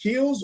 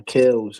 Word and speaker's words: Kels: Is your name Is it pronounced KS or Kels? Nah Kels, bro.